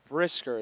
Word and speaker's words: Brisker: Brisker, that's how you say it.